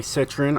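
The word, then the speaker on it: Citroën: 1975 uh citroen uh ds-23 now to say citron i even had to go into google to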